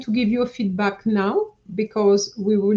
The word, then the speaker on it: nos: And I noticed that the two of you, you say nos. N-O-S is no, okay? The S is silent.